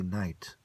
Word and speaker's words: knight: as a prince, a knight, a prince of light, without being a knight without the K. The K is silent, so is the N.